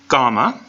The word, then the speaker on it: gamma: the third letter is gamma and gamma is a word that has a few different pronunciations two main pronunciations normally it'll sound like the G in gone so gamma but if it is